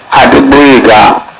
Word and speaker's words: Adegboyega: Pronunciate, please. Respectfully, my lords, my name is Adeboyega.